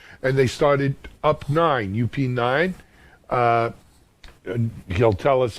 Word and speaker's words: Up9: What's UP9 about? And I pronounce it Up9, but am I wrong?